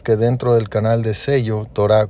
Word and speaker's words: Zello: Y para esto puedes descargar la aplicación de Sello, que se escribe ZELLO, y ahí una vez que descargues